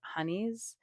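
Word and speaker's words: Hani: And then we went to a bakery that I had been wanting to go to called Honeys, but it's spelled H A N I.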